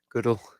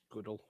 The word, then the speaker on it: Goodell: You don't know how to pronounce the guy's name? Goodell. Goodell.